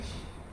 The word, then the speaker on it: 醒: 叫做心，它是一个多音字。但是呢，它要表示从醉的状态之中醒过来这个念心，表示从